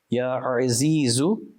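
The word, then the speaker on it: يا عزيز: Ya Azizu, Ya Azizu, Ya Azizu. Remember, there's an Ain. Ain, the makhraj of it is from the center of the throat. So our pronunciations have to be correct.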